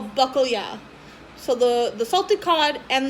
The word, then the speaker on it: bacalhau: And in Portuguese, the salted cod is called bacalhau. I had to stare out the window to get the pronunciation properly. So yeah, bacalhau.